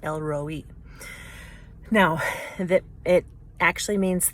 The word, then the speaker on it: El Roi: talk about today is i thought it was pronounced el roi but i think it's pronounced elroy now that it actually